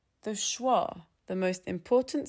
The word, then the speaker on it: schwa: It's the neutral little uh in the middle of your mouth, and most learners have never studied it because it doesn't belong to any letter.